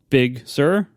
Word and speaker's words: Big Sir: to try it again equal Accent on both syllables I'm going to say Big Sir Big Sir big sir